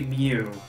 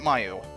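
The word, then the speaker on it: Mieu: it's supposed to be pretty sure it's supposed to be Mew right I'm pronouncing it Mayu why would you pronounce it like that I used to pronounce it do that I have I used to pronounce it Miu when I was like 15 it's a Pun It's Mew kind of like in the first Fantasy Star game where the cat was named meow they're all for [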